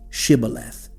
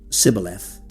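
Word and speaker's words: Shibboleth: cross subjected them to a linguistic test, say Shibth. The Ephraimites could not pronounce the shh sound. Saying sibth instead, a dialectal difference that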